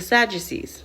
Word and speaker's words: Sadducees: Now, we're going to learn about the Sadducees.